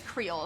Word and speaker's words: Creel: I think it's Creel is how you say that.